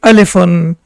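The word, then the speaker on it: ألفٌ: For example, we say Alif, but when you look at this, the original pronunciation will be Alifun.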